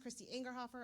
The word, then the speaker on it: Christy Angerhofer: Hi, my name is Christy Angerhofer. It's pronounced Christy Angerhofer. I don't like to be called Chris or Chrissy.